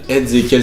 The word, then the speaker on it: EZ3KIEL: Ezekiel s'écrit EZ3KIEL.